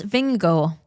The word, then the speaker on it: Vingegaard: Jonas Vingegaard has teamed up. See, I say that. I pronounce that properly.